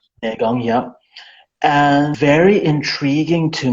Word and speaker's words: Neigong: on Bagua, and also, I'm not sure if it's pronounced Nigong or Neigong, Yes. which is apparently Neigong, yeah.